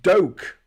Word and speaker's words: Duque: Pronounced Doke.